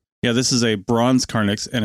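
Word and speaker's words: carnyx: Well, they found an extraordinary Iron Age war trumpet known as a Carnix. And in case I'm pronouncing that wrong, C A R N YX in West Norfolk.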